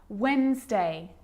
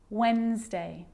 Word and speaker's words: Wednesday: that's the silent c so what about the letter d yep it can be silent too wednesday handsome sandwich so i'm